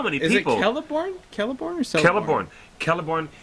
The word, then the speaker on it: Celeborn: The best example is Celeborn, which is not Celeborn.